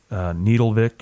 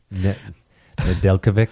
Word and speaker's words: Nedeljkovic: They've got what's-his-face in the minors, Alex Needlevik, or, man. Alex Needledick? I think that's what you meant to say. No. Nedeljkovic.